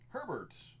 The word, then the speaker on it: Herbert: idea what to do Herbert rhymes with sherbert Josh Allen Full Throttle